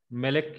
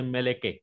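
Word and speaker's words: מלך: If Shiva comes in kaf sofit last, that is melek, then it should be silent. Pronounce करायचं नाही. मेलेक या शब्दामध्ये मेलेक म्हणजे राजा, तर सगळ्यात शेवटी काप सोपित आहे.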